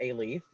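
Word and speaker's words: Alief: you yeah so um it's a leaf um just really quick because i know sometimes we get weird pronunciations of it um and so a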